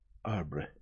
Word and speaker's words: arbre: in the same way he was taught to pronounce ape, thing, and tree, arbre.